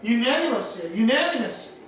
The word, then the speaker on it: unanimous: 그래서 발음이 on이 아니라 un인 거야. unanimous.